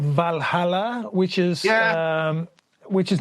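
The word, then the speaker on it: Walhalla: It's spelled with a W in German. Valhalla.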